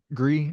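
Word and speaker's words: Gris: The combat, so I haven't played Gree, is that how you say it?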